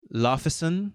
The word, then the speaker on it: Laufeyson: Hunter, you'll be playing Loki Laufeyson, I think is how it's pronounced. Yeah. It's like Laufey's son.